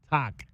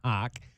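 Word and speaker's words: Haugh: Let's hear from Tom Hawk Hawk. H A U G H pronounced Hawk. Let's hear from Tom Hawk on moving to the small forward position.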